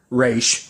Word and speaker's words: Ra's: But interesting, we have Raish, or Raz, whichever one you want to pronounce it, but obviously the show's going to pronounce it Raish, so I'm going to try and pronounce it like that, but I'll probably end